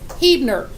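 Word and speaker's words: Huebner: is spelled H ueb and ER and it's pronounced heat nur well what do you think most people who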